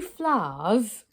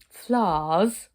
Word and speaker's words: flowers: and when you do flowers can it be just one syllable flowers almost f-l-a-h-s flowers are gathering flowers and